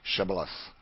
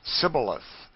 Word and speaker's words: Shibboleth: to let none pass who could not say Shibboleth. The Ephraimites, being of a different tribe, could not frame to pronounce the word right, but called it Sibboleth, which proved them enemies and cost them their lives.